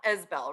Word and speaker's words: Isbell: It's now Isbell, right? Yes.